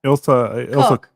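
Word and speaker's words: Ilse Koch: Ilsa Koch.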